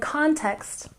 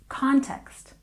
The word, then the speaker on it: context: And context, we stress the first syllable. Context, context.